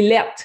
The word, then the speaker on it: laid: Lettres, c'est notre façon de prononcer lait. C'est lait. Ah, c'est lettres, là. Fait que ses lunettes sont lettres. OK. Donc, c'est lettres avec un T, en fait. Ouais, avec un T à la fin.